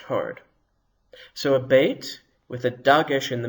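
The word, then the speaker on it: בּ: Without a dagesh, the consonant is soft. You see, there's no dot in the middle of the beit this time. So now it is pronounced v, veit. Let's hear the difference again. Beit, hard. Veit, soft.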